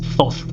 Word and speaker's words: Thoth: So I'm going to pronounce this Thoth, alright? So very easy on the TH sound, because otherwise I could